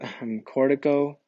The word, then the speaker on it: corticobulbar: These lower motor neurons and upper motor neurons together are going to be called the Corticobulbar tract, okay? So again, I didn't say it properly, but Corticobulbar tracts, right?